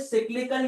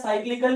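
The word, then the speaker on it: cyclical: What is सिक्लिकल या साइक्लिकल, दोनों नाम है, कोई किसी तरह प्रोनाउंस करता है।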